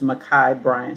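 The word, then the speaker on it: Ma'Khia Bryant: give her name in the background um uh makai bryant did i say it right yes uh her family pronounced her name her aunt uh who was in a video uh pronounced her name is makai bryant she was 15 years old these are our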